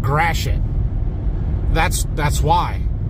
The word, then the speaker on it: Gratiot: right there you see that word yeah that's pronounced Gratiot that's that's why it's because we have weird spelled words like that here in Michigan for real Gratiot Avenue all loaded up that was easy